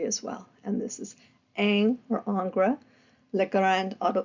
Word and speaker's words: Ingres: Jean August Dominique angra sometimes his this look at the spelling of this name sometimes it's pronounced Aang sometimes it's pronounced angra um but again angra it's that artist uh